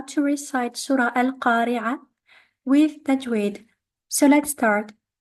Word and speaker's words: القارعة: L, al-qari'ah. The qaf here with the fatha is followed by an alif. This alif is there to elongate the fatha and we have to do so for 2 counts. Al-qari'ah, al-qari'ah.